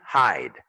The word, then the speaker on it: hide: Ici, hide. Parce que le E est muet, n'oublie pas.